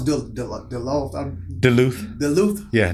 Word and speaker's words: Duluth: johnson michael all right atlanta georgia how you pronounce bill duluth duluth yeah duluth george georgia yeah all right man appreciate it